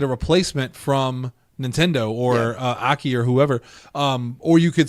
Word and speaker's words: Aki: Aki. So it wasn't AKI. Well, it's AKI Aki. That's how it's spelled, but it's pronounced... It's actually said as Aki?